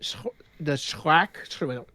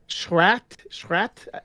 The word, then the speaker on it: Schrat: Yeah, another one I've heard is the Schrack. No, how do you say it? This is German. It's like it's Schrat, like scrat, but with a in the middle.